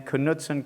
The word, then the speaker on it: Knutson: While Katie's heading up there, I'm glad to know that she pronounces her name Knutson, because my favorite person in the world is Knut Rockne.